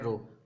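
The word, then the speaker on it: rho: क्या होता है, रो, इसको प्रोनाउंसिएशन क्या है, रो, और सिंबल क्या है, कुछ ऐसा, ठीक है।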